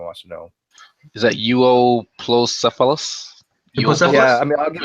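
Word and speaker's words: Euoplocephalus: He says basically, does he know the difference between an Ankylosaurus and a Uoplocephalus? Cephalus and Ankylosaurus, right? Ankylosaurus, and I don't know how to say the second one. Say it. Euplocephalus.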